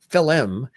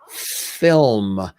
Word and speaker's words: film: say Hey Dad um no it's it's not filim there's not an extra syllable in there it's it's film you know film nice